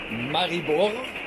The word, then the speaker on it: Maribor: Das sind drei Tage zusammengeführt und das ist die Strecke von Radebeul rüber nach Maribor oder ausgesprochen Maribor und dann weiter eben nach Maliluschin.